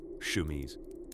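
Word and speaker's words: chemise: First came the shmese, pronounced shmese, as if even the word is embarrassed to be there.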